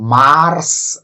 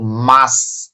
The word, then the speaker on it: March: সুতরাং MARCH এটির উচ্চারণ মার্স না, এটির উচ্চারণ হলো মাস, মাস।